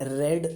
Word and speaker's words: read: जर त्याचा भूतकाळात मला उच्चार करायचा असेल मला माहिती आहे त्यांनी वाचून झालेला आहे किंवा वाचलेला आहे तर मी रेड असा उच्चार करतो.